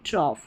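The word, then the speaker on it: trough: Next है number eight पर ओ यू जी एच। इसको ऑफ करके प्रोनाउंस करना है। ऑफ करके आप प्रोनाउंस करेंगे। और यहां पर सेवंथ नंबर पर आपने देखा ओ यू जी एच को ओ करके प्रोनाउंस कर रहे हैं। तो यहां पर देखिए ऑफ ओ यू जी एच ऑफ और ये ऑफ। टी आर को ट्रॉ पढ़ेंगे। तो ये हो गया कॉफ ये ट्रॉफ। कॉफ ट्रॉफ बहुत लिमिटेड स्पेलिंग्स हैं।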